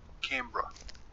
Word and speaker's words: Canberra: on onto wiki you're saying and it's gonna pronounce it canberra canberra canberra hold on canberra canberra canberra so